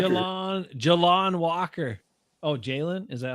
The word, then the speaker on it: Jalon Walker: It's Jaylen Walker. Jalon. Jalon Walker.